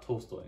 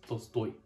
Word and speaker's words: Tolstoy: It's not Tolstoy. It's Tolstoy. Like you have to put the emphasis on it, or otherwise you're saying a completely different thing.